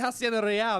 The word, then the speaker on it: Hacienda Real: It's supposed to be Hacienda Real. That's how you pronounce it.